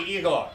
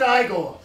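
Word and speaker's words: Igor: Frederick frogenstein I see you must be eagle no it's pronounced I go they told me it was eagle well they were wrong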